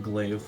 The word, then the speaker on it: glaive: I also have a glaive that I didn't purchase, but I needed some repairs, and I finally have the money to fix it up because it's a homemade. Is glaive the right way you pronounce it?